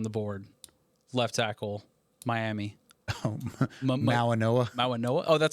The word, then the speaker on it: Mauigoa: Mawanoa.